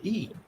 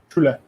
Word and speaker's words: Schule: In Germany, they spell it Schule, which is Schule. Schule.